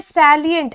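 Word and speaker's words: salient: Next word है सैलिएंट। एक होता है साइलेंट, ठीक है। उसमें साइलेंट का मतलब होता है चुप होना। ये साइलेंट नहीं है, ये है सेलिएंट। तो काफी बार बोलते हैं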